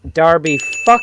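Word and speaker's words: Derby: tom dalby county uh i'm sorry it's darby county uh would be the correct pronunciation of that uh led zap you're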